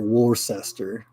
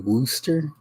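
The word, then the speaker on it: Worcester: like I said it War sester but it's actually woster like rooster but woster I'm like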